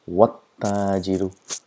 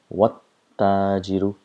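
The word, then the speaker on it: والتاجر: So what happens is we pronounce as though the letters don't exist at all. So pronounce it wat-tajiru, wat-tajiru.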